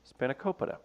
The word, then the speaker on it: spanakopita: And Travis, your favorite pronunciation, spanakopita.